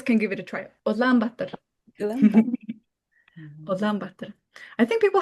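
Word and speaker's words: Улаанбаатар: How do you say Ulaanbaatar in the real pronunciation? Can you say that in again? Mongolian. Ulaanbaatar in Mongolian. Ulaanbaatar. Ulaanbaatar.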